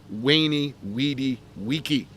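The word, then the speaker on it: veni, vidi, vici: and in this pronunciation words beginning with a V sound like a w so that famous saying by Julius Caesar that goes v ni VI d i VI we think that he might have actually pronounced that wany weedy weaky uh the C Sound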